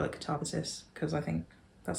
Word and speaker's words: Katabasis: This is the one that nobody knows how to pronounce. So Katabasis? Katabasis? Katabasis. I'm going to call it Katabasis because I think that sounds right.